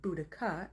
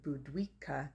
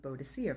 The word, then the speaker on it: Boudica: But Tacitus spells her name with two C's, so the K sound, and Cassius Dio writes her name Boudicca, C-A at the end. So then where did we get this rogue pronunciation of Bodicea from? That was a spelling mistake that was picked up by the Victorians.